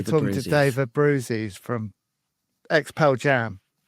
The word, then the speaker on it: Abbruzzese: So he's pronounced it Abbruzzese.